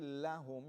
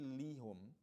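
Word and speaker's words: لهم: You say lahum, you don't say lihum. That's for ease of pronunciation.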